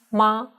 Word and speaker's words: 吗: Here we pronounce ma with light tone.